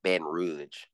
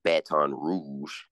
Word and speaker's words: Baton Rouge: Snoop Dogg says b Baton Rogue Rogue um natives call it Ben Rouge the correct pronunciation is Baton Rouge no so it's you